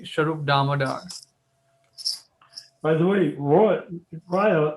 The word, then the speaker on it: Raya: By the way, Raya is actually pronounced Roy, and Roy means king.